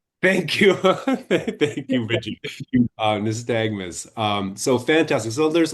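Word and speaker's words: nystagmus: nistagmus nagmus thank you thank you nistagmus Um, so fantastic.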